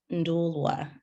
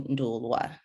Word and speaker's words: Nduulwa: Yeah, so it's pronounced Nduulwa. Well, sometimes I end up even like saying it because I'm so used to trying to have people understand, like, pronounce it properly. So, but it's like my family would call me Nduulwa. Okay, with the W.